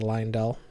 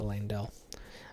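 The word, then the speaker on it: Leyndell: as interesting as all these changes are also pronounces it Lionel instead of laying down but whatever uh I'm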